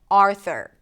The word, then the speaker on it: Arthur: Primary stress is on the first syllable. Arthur.